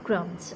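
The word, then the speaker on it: crumbs: The bird is eating bread क्रम्स। अब ये क्रम्स जो अंडरलाइन जितने भी वर्ड्स हैं, ये सब वो वर्ड्स हैं कि इनमें साइलेंट लेटर्स मौजूद हैं। क्रम्स में बी है।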